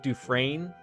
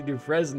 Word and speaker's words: Dufresne: is is like is like the s silent is it like dufresne i just picture you